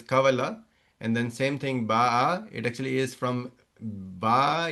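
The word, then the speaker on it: باع: Same thing, baya'a, you'll not say baya'a because it is not being pronounced correctly. If you just try to pronounce it, it will pronounce very awkwardly. So you will say ba'a.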